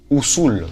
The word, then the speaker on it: Usul: de Dune sauf que ça se prononce ousou et je vous jure